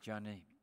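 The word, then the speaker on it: Joni: And Johnny was amongst the crowd. That's how your name is pronounced, Johnny. Her father wanted a boy, so he called her Johnny, J-O-N-I. So I'm not mispronouncing it.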